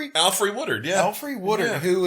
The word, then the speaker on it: Alfre Woodard: Played by the amazing, how do you pronounce this name? Alfre Woodard, yeah.